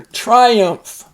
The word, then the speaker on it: triumph: to divide right there Triumph when you win you Triumph notice the long i there into the action is